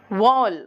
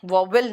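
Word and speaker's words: vowel: वॉल बोलते हैं, वॉवेल नहीं बोलते, इट्स वॉल.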